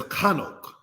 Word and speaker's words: Hanok: Hanok, said in the language as Chanok.